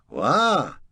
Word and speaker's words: wha: Second word is spelled W-H-A. Note, there is no T on this, and it is pronounced, wah.